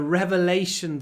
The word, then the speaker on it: revelation: it was a revelation maybe you noticed I don't say rev Revelation I made the r really long r a long R it was a Revelation